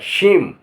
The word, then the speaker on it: shame: जैसे SHAME, तो यहाँ H का कोई, यहाँ ई का उच्चारण कोई नहीं होगा। शेम, यहाँ लास्ट में ई